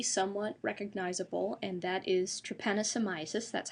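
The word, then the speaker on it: trypanosomiasis: should be immediately somewhat recognizable and that is to Pennisi mysis that's how you say it more commonly known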